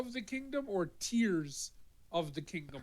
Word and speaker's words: Tears: were wondering uh Zelda tears of the kingdom is pronounced like tears of joy so it's crying tears of the Kingdom